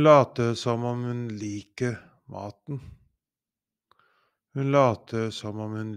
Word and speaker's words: mate: Mate, mate, mate, matte, matte, matte, mate, feed, matte, math.